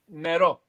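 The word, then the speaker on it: νερό: Nero. Nero. Like Nero for black in Italian. So for us it's Nero. Nero. Yeah. Always the accent is on the end of the word many times in Greek.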